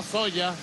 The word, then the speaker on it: soja: soja como le dije en otros lugares se escribe soja y se pronuncia soya para producir semillas de